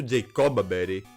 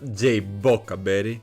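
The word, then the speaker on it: Jaboca Berry: You see, I was using Focus Sash for the longest time in Bug, but after switching to Jacoba Berry, it became such a big meme in my chat that she got a new nickname to reflect her new item.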